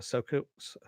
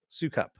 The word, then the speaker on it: Sukup: hey you Stephen the so coups Sukup there we go I knew how to say your name you told me how to say it I said remember it